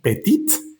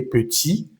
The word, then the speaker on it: petit: Y le petit no pronuncias ni la s ni la t de la palabra est y la palabra petit no pronuncias la última t y le petit después repite eso.